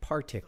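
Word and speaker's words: Partick: from uh partic thistle which I always pronounced Patrick thistle because that seems like a more Scottish name but it's partic Park thistle uh let's take I'm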